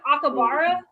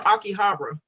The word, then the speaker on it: Akihabara: i want to miss have you heard of akibara it's like a town or akihabara maybe i was saying it wrong yes sure